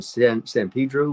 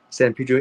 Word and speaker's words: San Pedro: Um, Last couple of films I did was one was in San Pedro, where they say San Pedro in my the way I would pronounce it, San Pedro. Since I have a Spanish tongue.